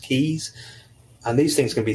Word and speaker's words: Key: Some people call them K boas. They're actually pronounced keys.